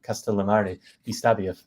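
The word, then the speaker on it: Castellammare di Stabia: right I I checked the forast in uh castal Mar dbia which is kind of a tongue twister for me like as a native English speaker castal Mari dbia if I'm saying it correctly please Perfect yeah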